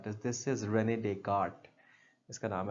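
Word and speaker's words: René Descartes: Christ हजरत हजरत ईसा यह अब ये नाम प्रोनाउंस करना इज़ I mean this is नॉट रेनेडेस this is रेनेडेट इसका नाम है अगेन अब व्हाई इज़ इट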